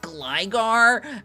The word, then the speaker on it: Gligar: the comments was like, it's actually pronounced Gligar, and I was like, yes, I know that people pronounce it Gligar, but I pronounce it Glager, because I pronounced it like that since I was a child.